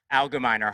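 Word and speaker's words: Algemeiner: And for me as a professor, most painfully, it's in the universities, which I monitor for the Allgemeiner news outlet, Allgemeiner, hard G.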